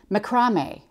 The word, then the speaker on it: macrame: Since this is Sue Daly's fabric, I probably should tell you how she says macrame. She says it macrame. That's how they say it in Australia, macrame.